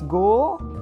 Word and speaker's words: gwisgo: Another important thing is that in Welsh the stress is practically always on the penultimate syllable, always paroxytones, but despite being "gwisgo", we also have the tonality, and the last one is always higher in pitch than the penultimate one, so it's "gwisgo" So Welsh is spoken